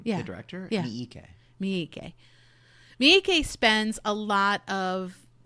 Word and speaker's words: Miike: So Miyake, am I pronouncing that wrong? His name? Yeah. The director? Yeah. Miike.